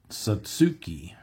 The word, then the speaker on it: Satsuki: the sat sat sat Satsuki remember the first syllable does not end with T it's sa and then susuki Satsuki all right ja